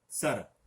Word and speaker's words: सर: यहां पर ध्यान दीजिए, शर और सर में अर्थ का भी अंतर है।